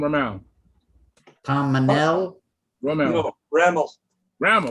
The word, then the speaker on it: Rammel: No, Rammel. Ramel. Tom Rammel. Yeah. Pardon me. Ramel. Right. How do you spell that?